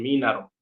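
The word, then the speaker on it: mínaro: ciertamente puede ser esa si la palabra fuera m i larga n a r o la pronunciación está bien minaro minaro Ajá bien pero hay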